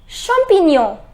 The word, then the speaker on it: champignon: what the fishy say champignon Pavo it is champignon champignon which means what champignon mushrooms okay this